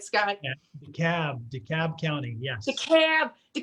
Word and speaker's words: DeKalb: be joined by uh brandi beavers from del cab community or county schools am i pronouncing that right scott cab dekalb county yes the cab the camp county my